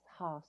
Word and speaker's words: Haas: I correct is it Hawes is it Haas Haas it's okay yes Haas long a okay like the avocado avocados didn't know this